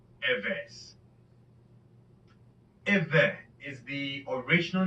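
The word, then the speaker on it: עברי: In English, you will spell this Ivri, and it's pronounced Eve.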